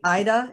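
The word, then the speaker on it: AIDA: helpful for preachers so so carrie am i pronouncing it right ida a-i-d-a sure yes elevator speech of what ida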